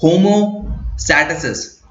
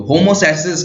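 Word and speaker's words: homeostasis: तो उसके लिए एक टेक्निकल टर्म है, उसकी प्रोनाउंसिएशन है होमोस्टैसिस। अगर मैं गलत नहीं हूं तो होमोस्टैसिस की प्रोनाउंसिएशन है।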